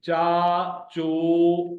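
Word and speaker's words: چاچو: चा चो, look at the Roman pronunciation, CHAA means चा, CHO चो, चाचो, चे और अलिफ जबर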